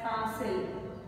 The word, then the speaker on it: castle: It is castle, like the word whistle. See, whistle. We have TLE in it, but we still say whistle. In the same way, you should pronounce this word as castle.